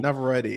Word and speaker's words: Navarrete: Indy Indy Navarrete, who Navarrete.